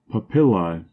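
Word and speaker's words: papilla: of the 17th century papil a Latin word Accent on the second syllable meaning here the rough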